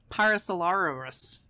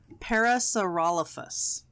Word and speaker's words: Parasaurolophus: Parasaurolosaurus. No. Nope. Hang on. Let me... Try again. Did I close the... I closed the window. All right, let's see. Parasaurolophus.